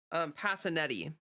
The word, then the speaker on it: Passanetti: Passanetti. Et e. If we were Italian, it would probably be like Passaniti, but it's Passanetti because Americans pronounce things weird.